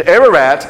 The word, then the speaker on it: Ararat: And Ararat is a Hebrew pronunciation of an ancient kingdom called Urartu. The consonants are the same, the vowels change.